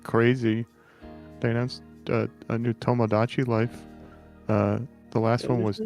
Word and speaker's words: Tomodachi: Tomodachi with a D. Tamagotchi? Yeah. Huh. Is Tamagotchi a different thing, or have I just been pronouncing it wrong? Tomodachi is a Nintendo IP. Tamagotchi is the little animal thing you play with Okay.